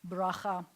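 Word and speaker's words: ברכה: raha baraja means blessing braja or as they say the Ashkenazi pronunciation they always a broker it sounds like Spanish which bruja is a Spanish which bracha Abraha is a blessing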